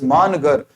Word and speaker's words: Mangarh: is about manga Massacre manga is a place in mangar or mangar it is famously pronounced as manager it is a place